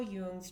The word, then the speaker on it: Jung: And in Carl Jung's terms, um, and it's Jung, Carl Yung was a amazing human being that left a ton of a ton of content for our soul's journey.